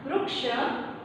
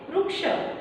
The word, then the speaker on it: वृक्ष: हिंदी में आप कैसे पढ़ते हैं वृक्ष, लेकिन मराठी में उसी शब्द को हम वृक्ष ऐसा पढ़ते हैं, क्योंकि हमें पूरा रू का जो उच्चारण है वो करना होता है।